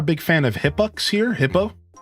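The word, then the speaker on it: Hippeux: Hippo. It's just spelled this way, but it's pronounced hippo.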